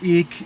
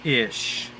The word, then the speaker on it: ich: The ich is the I heavily aspirated. In some parts of Germany, the ich is pronounced as ish.